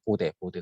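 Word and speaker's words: Bode: 그리고 이제 보드 플롯과 폴라 플롯이 나오는데 보드 플롯, 보드. 이걸 보대라고도 원래는 보대라고 그러더라고요. 독일 사람이 뭐예요? 보대. 근데 영어 발음은 보드거든.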